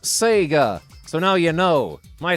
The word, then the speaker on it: Sega: clever trousers look like says mike Bowden it's pronounced Sega so now you know my special clever trous